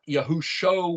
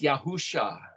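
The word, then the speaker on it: יהושע: to be more confused it's not yahushua with an oin it's yahusha but but then this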